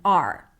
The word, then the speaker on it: our: So the word our reduces to R. Sounds like the word R or the letter R.